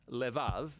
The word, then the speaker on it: levav: We're going to look at the fourth keyword in this prayer, heart, which in Hebrew is sometimes pronounced levav, or more often in a shorter form, lev.